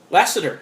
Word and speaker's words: Lasseter: his name i forgot john is it lest lassister lesser lasseter thank you i could never pronounce his name last name the one he's